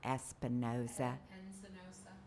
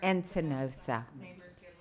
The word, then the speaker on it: Encinosa: It's not Espinoza. It's Encinosa.